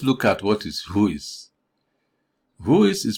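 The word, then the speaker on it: WHOIS: at what is voice voice is pronounced as the phrase who is this is a record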